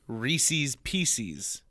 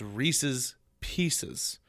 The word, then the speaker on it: Reese's Pieces: and Dale Rescue Rangers people also say Reese's pcs that's not right it's Reese's Pieces I drives me nuts